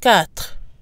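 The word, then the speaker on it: quatre: followed by a vowel the number four has a slight pronunciation change when followed by a vowel on its own it's pronounced cat cat when followed by a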